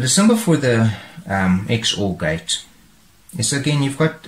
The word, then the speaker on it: XOR: okay and that is known as the xor or also maybe pronounced as the zorgate and it's essentially that